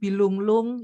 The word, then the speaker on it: bilunglung: Nah, ini ada bianjan, bilunglung itu kalau N-nya N-nya ada ekornya bacanya eng, bilunglung, kemudian kakap, ada perang.